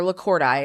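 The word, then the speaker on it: lacordairei: However, Nematobricon lacordii, or lacordi, it's at Rosario Lacord, so it's lacordi. That's the correct way to say it.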